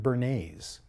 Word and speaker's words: Bernays: whose name was edward bernays bernays not spelled like the sauce but spelled b-e-r-n-e-y and